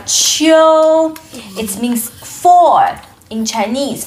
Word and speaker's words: 秋: And this word is pronounced as qiu, qiu, and qiu tian is autumn in Chinese, and four in Chinese, qiu tian.